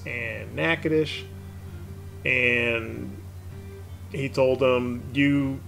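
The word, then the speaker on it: Natchitoches: town a character off on a tangent is pronounced nakadish and they are both just about equidistant from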